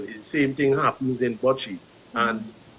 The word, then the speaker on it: bocce: All of these games I'm seeing that you guys participate in, if I'm pronouncing it incorrectly, please correct me, is Bocce? Bocce.